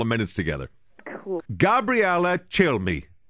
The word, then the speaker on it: Cilmi: minutes together cool Gabriela chill me did I pronounce it properly yes you did which is a good thing because I get like all kinds of things like Kill Me Oh no just make